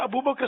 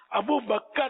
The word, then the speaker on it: ابو بکر: اچھا یہ عام طور پر ایک غلط تلفظ بولا جاتا ہے, یہاں ابو بکر بولتے ہیں, ابو بکر نہیں ہے, کاف ساکن ہے. ابو بکر, ابو بکر صدیق, ابو بکر صدیق بولیں گے تو غلط ہو جاتا ہے, اور یہ 99.9